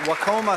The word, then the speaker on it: Wacoma: Next, Jade Schmella from Wacoma, South Dakota. I asked her how to pronounce her last name earlier, but forgot to ask how it's pronounced Wacoma.